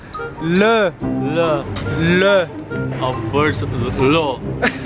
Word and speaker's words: le: Not lo, le. Le. Auberge law. Not lo. Le. Le. Le. There. Le Pomerol.